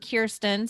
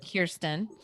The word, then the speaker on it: Kirsten: i will say so my name is kirsten sounds like ear so i do say